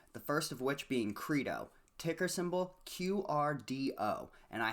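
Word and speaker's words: Qredo: first of which being credo ticker symbol qrdo and i had to look up how this one was pronounced i was pretty sure it was credo and it is it rhymes with torpedo k-r-e-e-d-o is how you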